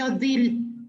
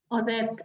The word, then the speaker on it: Odette: Yo no soy Odil. En el Facebook estoy como Odil, pero mi nombre es Odette. Odette. Entonces, luego, antes no sabían cómo pronunciar mi nombre, ¿no?